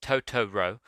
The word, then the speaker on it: Totoro: is inhabited by magical creatures called totoros pronounced tooro they soon befriend these